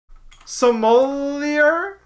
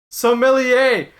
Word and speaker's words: sommelier: how do you pronounce Somalia is that how you pronounce it how do you pronounce it sommelier yeah I would yo you